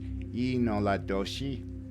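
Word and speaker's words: yee naaldlooshii: It was the Navajo people who coined the term Skinwalker, and in fact, in their native language, and I know I'm going to butcher it, but it's pronounced Inoladoshi, which means he who was on all fours.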